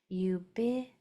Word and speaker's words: ubiquity: This is accented right here. Third syllable from the end. Ubiquity.